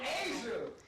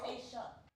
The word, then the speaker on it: Aisha: Asia. No. It's Aisha. Aisha.